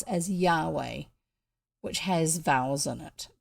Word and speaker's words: Yahweh: the top name for god is what we pronounce as yahweh which has vowels in it but it was